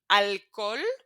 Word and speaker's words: alcohol: It's the only letter we will never pronounce. It's just as if there was nothing in there.